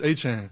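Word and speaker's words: Etienne: Travis, is it ETN or is it Achan? Let's go on this journey together. So growing up, it's Travis Achan.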